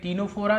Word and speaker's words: टीनोफोरा: Coelenterata के बाद हम पढ़ेंगे टीनोफोरा। देखिए यहाँ पर सी साइलेंट है तो हम पढ़ेंगे टीनोफोरा।